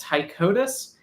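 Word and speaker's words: Ptychodus: So they're a species called tyicotus. And just like uh turgios and pterodactyls, the p is silent.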